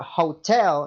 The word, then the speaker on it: hotel: much silent all the time the the word hotel in Spanish is no hotel is Hotel like